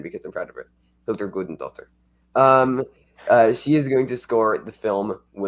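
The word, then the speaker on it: Hildur Guðnadóttir: Hildur Gudendottir. Good pronunciation.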